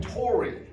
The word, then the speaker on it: Toraigh: And that's because the AIGH part of that word is in fact pronounced like the letter Y in the English language in most cases.